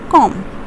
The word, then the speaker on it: comb: The next word is comb. You don't say comb, but you say it as comb.